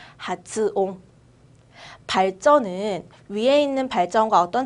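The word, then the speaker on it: 発音: 하츠옹이라고 또박또박 하츠라고 읽을 거예요. 또박또박 하츠. 츠가 작아지지 않고 그대로 하츠라고 읽을 거예요. 발음은 하츠옹.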